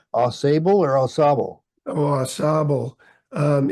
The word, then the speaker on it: Ausable: what is is it is the cor correct pronunciation Al or assab oh assab um it's French you know assab um which